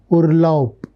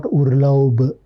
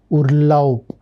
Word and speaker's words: Urlaub: Observe the pronunciation of the word is Urlaub, not Urlaub. Ending B sound, it should sound like P, like a P. So, Urlaub, macht Urlaub.